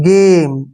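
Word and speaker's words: game: हैं जी ए एम देखिए इस वर्ड में क्या है कि जी को हम ग का उच्चारण कर रहे हैं ठीक है ना जी को ग पढ़ रहे हैं गेम ठीक है ना जी को ग पड़ा है और यहीं पर एक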